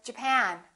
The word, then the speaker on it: Japan: Did you say Japan or Japan? In this case, it's the second syllable.